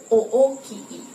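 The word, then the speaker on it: おおきい: Kemudian misalnya kata o qi nah o-nya panjang dan i-nya panjang. Q i. O o ki i gitu. Oi dibaca panjang.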